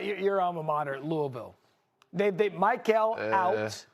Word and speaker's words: Louisville: Shout out to the University of Louisville. Not Louisville, not Louisville. All of you who don't know how to pronounce stuff the right damn way. It's Louisville, okay?